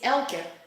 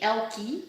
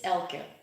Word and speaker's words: Elka: god reading it properly my name is Elka in death so but most Americans say ElkY because for them apparently it's hard to say uh at the end of a word so but if you want to pronounce it correctly it's Elka I will see I'm